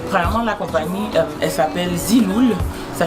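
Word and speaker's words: Zeelool: Alors, bon, les lunettes, je les ai, premièrement, la compagnie, elle s'appelle Ziloul, ça s'écrit Z-E-E-L-O-O-L, et c'est une compagnie que j'ai trouvée sur Instagram.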